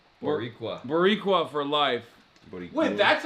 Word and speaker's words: Boricua: Borisua for life. Am I saying it wrong? Oh. How do you say it? Boricua.